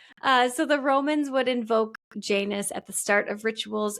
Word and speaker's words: Janus: Some people say Janus, some people say Janus, and some people say Janus or Janus. Oh. So I might switch back and forth, but I put in my notes that it rhymes with anus.